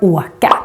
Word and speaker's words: åka: Another useful word with a long O is in the word åka. And here it becomes long because it's followed by just one consonant, the K.